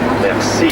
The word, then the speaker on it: merci: In Lucerne, however, they use the French word for thank you, merci, but pronounce it with a kind of Swiss-German accent. Merci. Merci, like that.